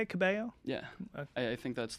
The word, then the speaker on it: Cabello: Ooh, is that how you say it, Cabello?